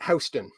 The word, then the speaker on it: Houston: we go so it it's spelled exactly like Houston the city uh but it's pronounced